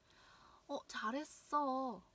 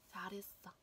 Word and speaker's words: 잘했어: 잘했어. 잘했어. 잘했어. 잘했어. Khi mà âm này nối âm R này nối với cả âm H này thì sẽ là 잘했어.